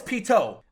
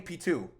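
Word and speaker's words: Pitou: episodes or something but i know it's pito i know that's the right way to say the name but i keep saying p2 skillzer says we don't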